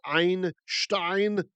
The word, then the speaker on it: Einstein: The Ashkenazi Jew, Albert Einstein, that's the right way to say his name, is Einstein, one stone in Yiddish.